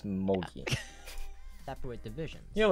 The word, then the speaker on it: mochi: It's mochi, isn't it? Oh, like, oh, no, mochi. That's like M-O-C-H-I or M-O-C-I, and that's like a... Like yeah, it's a type of food. Not mochi. It's mochi.